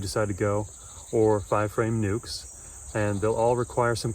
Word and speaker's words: nuc: or 5-frame nuke, and nuke is spelled N-U-C. It's short for the word nucleus. That's why you pronounce it nuke and not nuck.